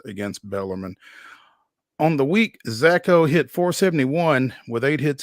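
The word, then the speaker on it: Szako: baseball Austin peas Brody zacho I guess the S is silent s z a KO hit four home runs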